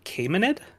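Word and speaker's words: Achaemenid: According to Wikipedia, it is uh a caymanid.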